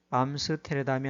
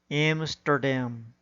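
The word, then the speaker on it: Amsterdam: 주어진 단어의 경우에도 인디애나폴리스가 아니라 인디애나폴리스, 사우디아라비아가 아니라 사우디아라비아, 암스테르담이 아니라 엠스터담, 리오데자네이로가 아니라 리오데자네이로, 소크라테스가 아니라 사크라테스, 오아시스가 아니라 오에이시스, 메르세데스가 아니라 머세디스로 발음해야 합니다.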